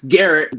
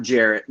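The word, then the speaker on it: Gerrit: up to number one it's garrett derrick cole not jarrett garrett cole oh okay that would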